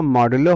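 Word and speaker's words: modulo: Short form इसका मॉडुलो होता है। यहाँ पे प्रोन लिखा होगा, तो प्रोन मीन्स प्रोनाउंसिएशन, तो हम इसका जो प्रोनाउंसिएशन करेंगे वो मॉडुलो करेंगे।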